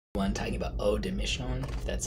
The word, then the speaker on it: Eau des Missions: everyone talking about oh de Michonne that's how you pronounce it buy it the notes are vanilla